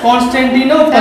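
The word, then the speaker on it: Constantinople: Okay, pronunciation is not clear, that is known as कॉन्स्टेंटिनोपल।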